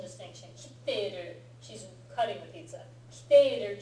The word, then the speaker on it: 切っている: はい。It's a very important pronunciation distinction. 切っている she's cutting the pizza.